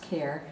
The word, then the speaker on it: Kehr: and you know again my last name is actually pronounced care i'm sorry dr care i love that part